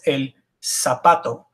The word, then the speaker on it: zapato: This one also has an asterisk because it's not el zapato, but it's el zapato. Z's are pronounced just like S's, no difference. No matter where the Z is, it's always an S. There is one caveat to that. In some parts of Spain, they pronounce Z's and C's with a lisp TH sound, as long